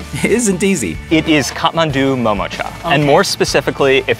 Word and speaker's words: Kathmandu MomoCha: Although their dumplings are undoubtedly delicious, pronouncing their name isn't easy. It is Kathmandu MomoCha.